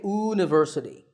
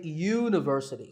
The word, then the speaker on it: university: is a university because even though university starts with the letter u the first sound of the word is not a vowel sound we don't say university we say university so that first sound is a ya sound which is a consonant sound so we say a